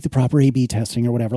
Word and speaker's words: A/B testing: And I've not done like the proper A/B testing or whatever. Like, I'll be the first to tell you this is very unscientific. It's pronounced AB testing.